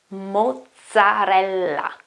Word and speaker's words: mozzarella: In this case, you have two double consonants. The first one here is a double Z, or a double Z if you're American, if you prefer, and a double L then. So you have to pronounce those two consonants in a longer way. So mozzarella, mozzarella. And this one here, you